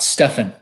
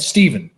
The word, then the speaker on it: Stephen: am not a ph i am not stefan and i know that that would be an insult to somebody named steven that's a ph because it is it's said stephen but to me it's spelled like stefan and i can't tell